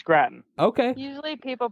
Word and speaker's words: Gratton: is that how you say it yes it's Gratton okay usually people pronounce it like potato usually we get grafting